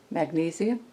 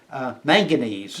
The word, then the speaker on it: manganese: This blade is comprised of carbon, chromium, Magnesium? no, see, I'm mispronouncing it as manganese, Manganese.